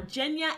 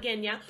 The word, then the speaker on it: Genya: We're gonna see some more Jenya in those. It's pronounced Jenya, not Genya.